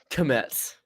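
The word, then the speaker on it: Kmetz: Metz, pronounced the K. I just did it again. Kometz.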